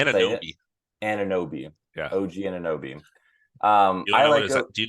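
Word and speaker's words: Anunoby: OG Nabi. I said it wrong. Close. Close. Say it. Ananobi.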